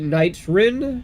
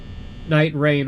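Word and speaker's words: Nightreign: Is it Night Shrine? Because at one point I don't know why I thought it was Nightingale for some weird reason, but it's not. Night Rain, okay.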